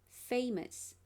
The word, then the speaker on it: famous: dictionary you can see famous you will learn that the stress is the first syllable indicated by the stress mark and the schwa symbol